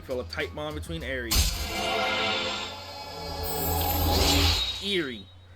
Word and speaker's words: Eri: a tight bond between Eri. Eerie. I keep mispronouncing her this entire time. I believe it's pronounced Eerie. And I pronounce it Eri. I mean, I guess it could be interchangeable.